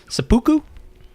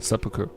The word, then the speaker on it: seppuku: doggy it's called a seppuku it's like right the correct way to say it right seppuku seppuku a failed American businessman